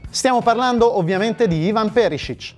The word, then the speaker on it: Perišić: sua avventura all'inter stiamo parlando ovviamente di ivan perisic e anche qui vi devo fermare subito per assicurarvi che la pronuncia è corretta la scelta è delicata sia